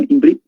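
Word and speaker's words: עברית: El idioma hebreo es pronunciado como Imbrit.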